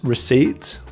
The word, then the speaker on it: receipt: Script, receipt. So in receipt, the P is silent.